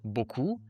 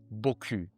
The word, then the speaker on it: beaucoup: So for example, instead of saying beaucoup, they'd say beaucoup.